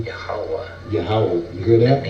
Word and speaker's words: Yahweh: It's impossible to get the verbs, you know what I'm saying, because it's pronounced Yahweh.